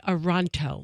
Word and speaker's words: Toronto: some Canadian rip me you don't say the T in Toronto go to Canadians for the pronunciation on anything I prefer to not say The First Tee so I say oronto oh